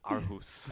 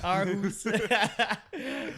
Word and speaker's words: Aarhus: Aarhus. Aarhus. Yeah, I was like, there's no way that's actually how you pronounce it.